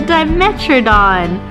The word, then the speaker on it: Dimetrodon: It's called a Dimetrodon.